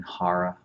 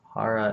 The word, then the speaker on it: Hara: the breath is all the way down in Hara Hara is spelled h-a-r-a and it literally trap translates from